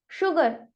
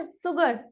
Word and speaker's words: sugar: But क्या आपको यहाँ कहीं H दिखाई दे रहा है? नहीं ना, लेकिन मैं इसे रीड कैसे कर रही हूँ? शुगर, नॉट सुगर, right? That is a wrong pronunciation for that. यानी कि यहाँ पर S और U का कॉम्बिनेशन श की साउंड जनरेट कर रहा है, इसीलिए I have read it शुगर।